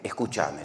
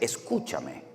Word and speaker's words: escúchame: yo decía Cómo que escuchame si nosotros los españoles no decimos escuchame en español no existe el escuchame es escúchame o escuchadme no salí no